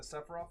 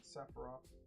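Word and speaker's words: Sephiroth: fair also After the guy pulled the the sephroof on me, I stopped caring. I can go hold my You're right, though. You're right though. I should be pronouncing it correctly. Sepharov, excuse me.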